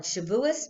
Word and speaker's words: Shavuos: you may call it Shavuos because that's what you walk with it's the yiddish pronunciation but I thought that